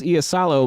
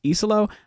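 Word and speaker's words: Iisalo: The head coach, I thought it was Easalo, but apparently it's Iselo.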